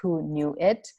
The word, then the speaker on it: Hoonuit: It's pronounced as Hoonuit. It's spelled as Hoonuit.